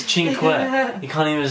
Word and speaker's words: cinque: It's cinque.